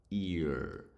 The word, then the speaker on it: ear: отже ear означає вухо читається як ear буква р в кінці не українська р а більше така р г г р р р Вакарчука в сторону Вакарчука ear І слово ear вухо